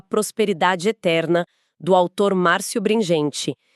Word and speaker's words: Bringhenti: Eterna, do autor Márcio Bringente. E vale uma nota super rápida de pronúncia aqui, o sobrenome se lê Bringente, com esse som de guê mesmo.